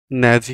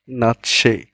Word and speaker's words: Nazi: তোমরা কি ভাবছো এটার উচ্চারণ ন্যাজি হবে? তোমরা কি এর উচ্চারণ ভাবছো নাজি হবে, নাকি ভাবছো নেইজি হবে?